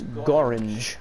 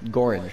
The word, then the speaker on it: Göran: like I learned that there is exactly one word that completely rhymes with orange and it's a it's göran göran yeah so is this